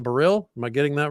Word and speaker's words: Baril: Got a great guest, Baril, accent on the second syllable, right? On Baril.